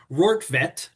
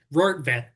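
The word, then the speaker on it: Rortvedt: I had to remind myself how to pronounce his last name, Rortvet, it's got to be Dutch, Rortvet, and Never heard of the guy.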